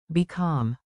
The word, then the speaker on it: بكم: Remember the mnemonic, bi-kam.